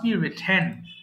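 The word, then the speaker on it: written: right লেখা right রোট আচ্ছা এটা অনেকে ভুল করে রাইট হ্যান্ড বলে ফেলে হ্যাঁ রাইট হ্যান্ড কিন্তু রং pronunciation it must রিটেন রিটেন আচ্ছা এরপরে আসি কোথায়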